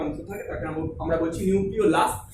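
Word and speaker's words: nucleolus: থাকে, তাকে আমরা বলছি নিউক্লিওলাস। অনেকে এটা নিউক্লিওলাস বলে, এটা নিউক্লিওলাসটা উচ্চারণটা একটু ভুল আছে, নিউক্লিওলাস হবে উচ্চারণটা, নিউক্লিওলাস।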